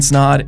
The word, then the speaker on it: Snod: My name is Snod. It rhymes with odd, and you're listening and watching the Rhymes with Odd podcast.